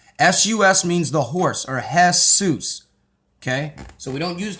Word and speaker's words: Jesus: Now in Greek, that's how they pronounce it, okay, with that. But in Hebrew, it means the horse. S-U-S means the horse, or Jesus, okay?